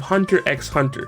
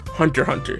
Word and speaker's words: Hunter x Hunter: the list we have hunter x hunter which is actually pronounced hunter hunter this one isn't too bad it's less of a